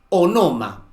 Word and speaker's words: onoma: ¿Cuál es la siguiente voz que da origen al término sinónimo, onoma. Algunos pronuncian como si se tratase de una palabra esdrújula.